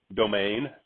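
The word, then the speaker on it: demesne: up with this one how do you pronounce that domain really yeah welcome to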